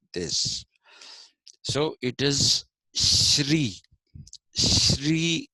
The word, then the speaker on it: Shri: so it is Shri Shri is how you have to pronounce it in Sanskrit in Telugu people say SRI that's a different issue